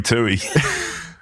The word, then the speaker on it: Tui: otherwise is that Louie it's rhy rhymes with Louie oh no no I meant it's the guy you work with called Louie Louie Tui you're bit slow on